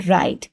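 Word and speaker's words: write: शुरू में जो कंसोनेंट होते हैं व्हिच आर नॉट प्रोनाउंस और जो प्रोनाउंस नहीं किए जाते for example W इन राइट। राइट में जैसे डब्ल्यू प्रोनाउंस नहीं हो रहा और ये इनिशियल कंसोनेंट है।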